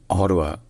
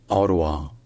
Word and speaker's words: Ottawa: Donc dans ce cas, donc il y a deux prononciations possibles en anglais, soit Ottawa, soit Ottawa.